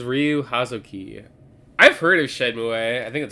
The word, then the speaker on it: Shenmue: I've heard of Shenmue.